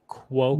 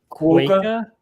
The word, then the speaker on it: quokka: Quokka. Yep. Quokka? Quokka. That's a quokka. Is that how you pronounce it?